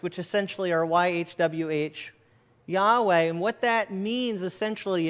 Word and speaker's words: Yahweh: as best we know, if you were to pronounce it, would be Yahweh, it has often been